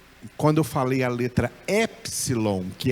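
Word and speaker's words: ἔψιλον: A gente em português usa a pronúncia do P, epsilon, mas lá na Grécia eles não usam essa pronúncia, eles falam a letra epsilon, epsilon.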